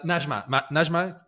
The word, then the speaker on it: Najma: Najma, pronounced correctly?